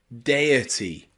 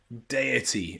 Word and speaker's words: deity: we have number nine which is where the letters e and I can be pronounced a in words like deity deity another crazy word in English that means it's about gods and Godlike beings okay deity deity here the letters e and I are pronounced a a okay okay if